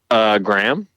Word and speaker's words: Graham: He says, Graham, how would you like your name pronounced? Graham or Graham? Graham.